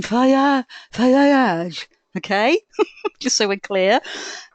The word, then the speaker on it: Fage: I pronounce it Fage, F-A-G-E. My kids go to school with that, but it's not that. It's the Greek pronunciation, Fayage.